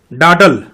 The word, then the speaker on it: dawdle: आगे है डाडल, डाडल, यहां देखिए डब्लू साइलेंट है, DAWDLE है, तो डब्लू साइलेंट है, लिखा गया है मगर पढ़ा नहीं जा रहा है, उच्चारित नहीं किया जा रहा है।